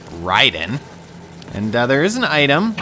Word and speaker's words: Raiden: But yeah, we're Raiden now, as I always pronounced it, but I guess it's officially Raiden.